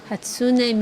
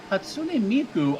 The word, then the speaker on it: Hatsune Miku: Hatsune Miku. I believe that's a Japanese pronunciation. Hatsune Miku.